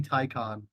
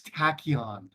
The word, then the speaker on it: Tachyon: Congress have a 2 terabyte folder called Mommy Tycon? Who's Tycon? I don't know. Who the fuck is that? I don't know. W niche. That's not how their name is pronounced. It's Tachyon.